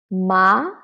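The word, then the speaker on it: 麻: Ma, from 3 to 5. Ma, it is a rising tone. So this ma is also exists in English. So it's just like when you are so surprised, you will say what? What? It's ma. It's the same as Chinese. And then ma, the third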